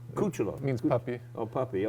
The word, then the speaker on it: Cucciolo: How do you pronounce it? Cucciolo. Cucciolo.